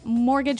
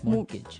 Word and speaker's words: mortgage: mean there's this strange mortgage with a t yeah it has a t in it but you don't pronounce it you say mortgage morgage so not Mort Mort Gage not morage morgage morgage yeah I